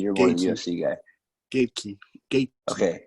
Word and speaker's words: Gaethje: How do you pronounce his name, please? You're more the UFC guy. Gaethje. Okay. Gaethje.